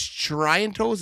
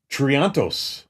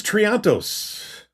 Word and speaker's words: Triantos: So, one is they can't James Tryantos. Is that how you say his name? That is Triantos. Dude, I'm horrible at saying names. I don't even say them. Yeah, James Triantos.